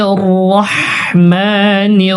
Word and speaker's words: রহিম: এবং লাস্টে আমাদেরকে কি করতে হবে, 3 সেকেন্ড পরিমাণ টানতে হবে, রহিম। বিসমিল্লাহির রহমানির রহিম, রহিম।